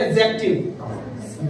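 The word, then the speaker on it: adjective: एडजेक्टिव आप जब उच्चारण इसका देखोगे, इसमें डी नहीं पढ़ा जा रहा है, इसको बोलते हैं एडजेक्टिव। डी इसमें नहीं आएगा। जब डी और जे साथ में आते हैं तो वहां पे डी का उच्चारण नहीं किया जाता। जैसे आपने मूवीज वगैरह में देखा होगा, द कोर्ट इज अडजर्न, स्थगित किया जाता है, तो उसमें भी डी साइलेंट रहता है।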